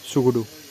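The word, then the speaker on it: Tshogdu: टी को pronunciation नहीं करना है, सुगुडू, ठीक है, सुगुडू बोलना है, ठीक है, सुगुडू।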